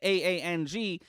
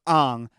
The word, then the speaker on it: Aang: because if you see the name aang and you're like oh well that's ang and then you watch the thing and they're saying and you're like no no no no no this would be pronounced ang i get it i do but it's pronounced aang and the thing it's